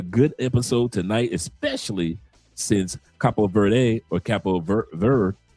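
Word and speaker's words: Cabo Verde: episode tonight, especially since Capo Verde or Capo ver Ver, how they pronounce it, Capo Ver, uh, the the D and the E is silent in Portuguese team is playing tonight against Argentina.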